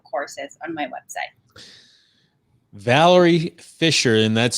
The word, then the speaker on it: Fischer: Valerie Fisher, and that's spelled, do I have it pronounced correctly? Fisher? Yes, Fischer.